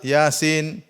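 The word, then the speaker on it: يس: mim dibaca ha mim Yasin jangan dibaca Yas dibaca apa Yasin Thaha Jangan dibaca thah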